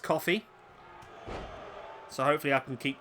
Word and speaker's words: Coffey: the comment section, so I've been informed that it is pronounced coffee, so hopefully I can keep going that right. I don't know why, I just assumed it was Kofi.